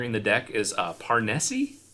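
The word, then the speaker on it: Parnesse: the deck is uh parnessi parnisi yeah how do you pronounce that i like parnessi okay with the silent e all right so this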